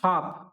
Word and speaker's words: half: Letter in the word हाफ। इसको क्या पढ़ते हैं, हाफ। स्पेलिंग क्या है इसकी, HALF। पढ़ क्या रहे हैं इसको, हाफ पढ़ रहे हैं। जो इसमें एल है उसको तो पढ़ ही नहीं रहे, है ना।